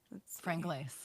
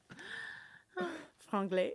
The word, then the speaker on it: Franglais: Franglais. Franglais, yeah. Franglais. The French do not pronounce the S at the end unless there's an E after it.